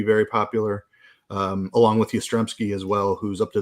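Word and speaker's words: Yastrzemski: guy oh yeah uh I believe the proper pronunciation is yasmodowski uh okay sorry continue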